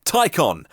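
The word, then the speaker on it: Taycan: lovely looking car in second place the Porsche ty con spelt taken pronounced icon and I especially like the ty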